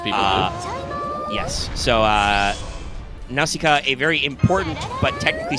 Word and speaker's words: Nausicaa: buns and vote uh nausicaa which i am pronouncing correctly by the way for the greek pronunciation uh i should possibly